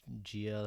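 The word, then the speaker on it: Jiah: Gia or some shit like that. I think it's Gia. Yeah. So J-I-A-H.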